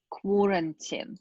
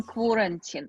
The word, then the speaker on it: quarantine: But yeah, the right, so A after Q is pronounced as O, quarantine. It's like quality. We have the same here. Quality, quarantine.